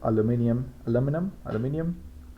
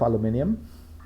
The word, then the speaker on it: aluminum: You have one that seems made of aluminum. How do you pronounce it? Both works. Both Both works. No, Okay, one of aluminium.